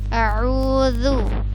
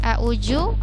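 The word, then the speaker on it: أعوذ: huruf hazal lu lu jadi bukan Zoo apalagi juga jadi er uzu bukan a'udzu atau a'udzu salah ya yang benar harus Zoo Hai kemudian disini Billah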